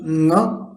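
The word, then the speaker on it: ङ: É um som nasal. Teoricamente seria pronunciado Nga. Se a gente fecha a garganta, na mesma posição que a gente fecha para falar K, a gente fecharia para falar Nga.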